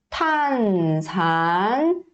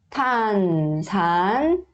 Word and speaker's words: 탄산: Só que o tiut também tem um som aspirado. O que é som aspirado? São aqueles sons que saem o ar da boca, tá? Então, tiut, tiut, tiut, tá? 탄산 음료, 탄산 음료, tá?